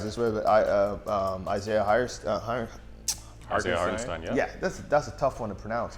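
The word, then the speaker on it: Hartenstein: Uh um Isaiah Hirestein. Yeah. Yeah. That's that's a tough one to pronounce. It sounds like Frankenstein, but you put heart in front. Put Kevin Hart in front of it.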